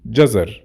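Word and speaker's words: جزر: Gazar. Gazar. Gazar means carrots. Obviously, in Fusha, it will be jazar. So, jazar or gazar.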